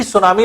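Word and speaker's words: tsunami: से एक को जाना जाता है तो टीम सुनामी लिखा जाता है लेकिन बनानी पड़ जाती थी साइलेंट होता है इसको सुनामी 77 अंक के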